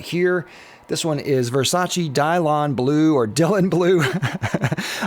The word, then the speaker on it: Dylan: this one is Versace Dion Blue or Dylan blue I've heard it pronounce a couple different ways we'll just say Dylan because it looks like Dylan and this one is